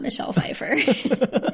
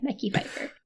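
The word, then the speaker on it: Mekhi Phifer: to pronounce his name mecky Fifer I believe I believe it's Michelle Fifer Daniel it is not Michelle Fifer m e k hi I mecky Fifer okay and it turns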